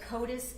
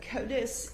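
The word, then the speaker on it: CODIS: Can you tell the jury what COTUS is? C O D I S. Yes. So Kotus is an acronym that stands for the combined DNA indexing system.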